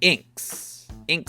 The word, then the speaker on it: INXS: point 3 INXS or as they used to pronounce their name inks inc succinct sucesses their legacy Australian